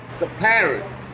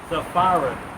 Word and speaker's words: Sepharad: Jerusalem, which is in Sepharad. Salaki, if I'm saying that word wrong. Sepharad. I think it's Sepharad. I think that PH is an F.